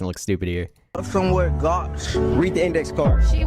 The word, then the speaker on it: gauche: Gooch. That's definitely not how you pronounce it, though.